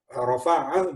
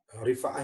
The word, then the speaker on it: Rifa'ah: Dari Rafa'ah bin Rafi', dia berkata, kunna nusalli yauman wara'an Nabi sallallahu alaihi wasallam, kami, Rifa'ah ya bacanya, wa an Rifa'ah bin